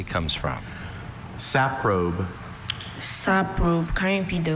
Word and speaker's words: saprobe: Saprobe. Saprobe. kind of the origin. Uh, this word was formed from originally Greek elements. Saprobe. Any alternate pronunciations? Just the one.